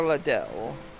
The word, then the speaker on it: Liddell: disheveled self up here little liddell pronounced a little or ledell he's dead i once